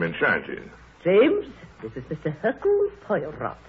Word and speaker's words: Hercule Poirot: If I may be permitted the one slight correction, my name is Hercule Poirot. Your good sister proceeds on the familiar English assumption that we are not English, do not know how to pronounce our own silly names.